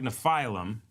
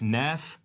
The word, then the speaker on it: Nephilim: Now, I know it looks like Nephilim, but it's Nephilim. I took the time to actually look up how it's pronounced.